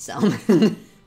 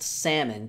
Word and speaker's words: salmon: had has pronounced it salmon because Czech is an entirely phonetic language so they read everything the way it's spelled so when you tell them actually it's pronounced salmon they look at you